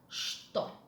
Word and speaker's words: что: Mind the pronunciation of the word что. In some words in Russian language that are beginning with letter ch, which are followed with the letter t, the letter ch is pronounced as sh.